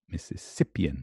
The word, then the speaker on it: Mississippian: examination oh hi Mississippian Mississippian okay some the Mississippian third alright good not on a second missus